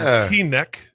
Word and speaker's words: Teaneck: I was at ABCD camp at Fairleigh Dickinson University in Teaneck. Did I say it right? Teaneck. Yeah, Teaneck, yeah.